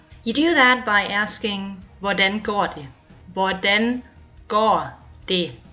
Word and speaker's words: hvordan: The same thing goes for the H at the beginning of hvad, hvor, and hvordan.